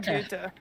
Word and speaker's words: Goethe: Johann Wolfgang von Goethe.